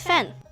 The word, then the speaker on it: 饭: And over here, this one pronounced as fan. So it's actually pronounced as fan.